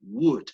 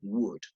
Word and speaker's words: would: La única pequeña correccióncita, Jaime, es en la pronunciación del would, que no debería sonar la L, no como wool, sino como la D más bien. Would. La L es muda en este caso, ¿no? Would.